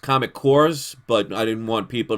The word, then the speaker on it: Comic Corps: YouTube channels name is comic corpse Co RP s like an Army Corps so it's actually pronounced comic cores but I didn't want